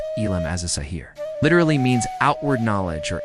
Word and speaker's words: Ilm al-Zahir: Limal Zahir pronounced ilim as a sahir literally means outward knowledge or exoteric knowledge.